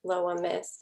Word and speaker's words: Loa Myst: You really embrace that, but then you also have a separate music identity with Loa Myst.